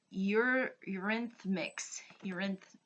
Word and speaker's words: Eurythmics: Are made of this by, and I want to make sure that I pronounce this name right, Eurythmics.